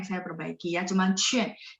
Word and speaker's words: 劝: Nadanya tidak banyak yang saya perbaiki ya, cuman cuan. Jadi Q, mungkin kita terbiasa pengen bacanya kayak bahasa Indonesia ya. Jadi Q bacanya TH, cuman mulutnya dibulatin UAN-nya. Jadi cuan ya, cuan.